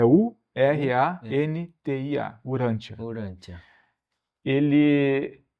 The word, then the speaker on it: Urantia: Como é que se escreve? Até para mim escrever aqui. Urantia mesmo, como se fala, é U R A N T I A, Urantia.